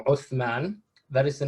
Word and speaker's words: Uthman: The word Ottoman is derived from a mispronunciation of the word Osman, or the name Osman, which is itself a Turkish mispronunciation of the Arabic name Uthman.